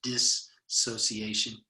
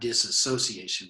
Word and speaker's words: dissociation: uh separation and dis dissociation i think is how that's pronounced dissociation not disassociation but dissociation uh and then it